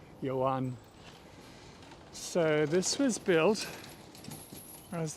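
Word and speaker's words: Joan: the brothers Bel Bazar and probably pronounced yoan here j o a n you would say Juan in some places I'm pretty sure it would be Yan so this was built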